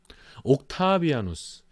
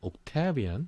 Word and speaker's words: 옥타비아누스: 옥타비아누스. 우리는 옥타비아누스라고 발음하고 뭐 유럽에서도 뭐 옥타비아누스라고 발음하고 영어적인 발음으로는 그냥 옥타비안 뭐 이렇게 예, 영어적인 발음은 그럽니다.